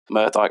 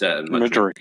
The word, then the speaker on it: Mudryk: got no notes on Murdoch. I always say his name wrong. What is it? Murdoch? No, I think it's Mudryk, isn't it? Mudryk, that's it.